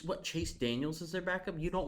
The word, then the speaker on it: Chase Daniel: talk about i mean you should say his name right chase daniel it's not daniel oh i don't care